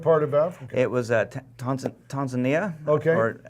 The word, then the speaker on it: Tanzania: It was Tanzania. Okay. Or Tanzania? I say it like an American, Tanzania, Tanzania. but that's not how they pronounce Tanzania.